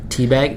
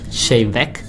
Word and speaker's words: Te Bheag: about te bh e AG we got not teabag it's actually pronounced shane mech there is an amazing up that everybody rape